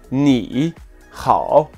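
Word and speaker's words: 你好: caractère ao ni hao si on prononce ces deux caractères donc doté d'un troisième ton plus rapidement cela donnerait n'ira aux classes est complexe et peu naturel aura donc procéder à un changement de ton le premier caractère donc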